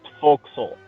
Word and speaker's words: forecastle: it's loading in wait what is it spelled forecastle it's pronounced vocal oh I would have